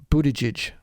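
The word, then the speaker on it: Buttigieg: hearts pronounced last name his name is Pete Buddha judge I'm pretty sure I said that correctly because I looked it up and I and I practiced it a few times before I got on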